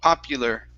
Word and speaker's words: popular: So the U is an EU sound. Pop-U. Popular.